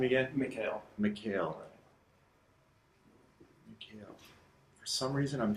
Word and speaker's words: Mikhail: Mikhail. Mikhail. For some reason, I'm having troubles writing that down phonetically, so I'll get it.